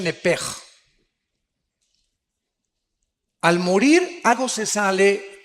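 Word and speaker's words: נפש: Apúntala, como suena nepesh, con SH. Se pronuncia nepej.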